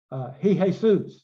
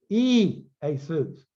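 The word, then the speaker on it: Ἰησοῦς: You'll hear some people say, "Hey, he Jesus." No, it's e Jesus.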